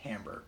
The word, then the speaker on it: timbre: sounds and this is tambour spelled TI m BR e it looks like timbre but it's pronounced Tambor so Tambor basically describes the quality